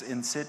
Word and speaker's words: INCIT: We pronounce ourselves wrong, INCIT. It's INCIT in English, not because I'm German.